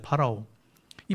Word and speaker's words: 파라오: 우리가 발음으로 바로라고 성경은 얘기하지만 파라오입니다. 파라오.이 파라오는 그 당시에 신이었습니다.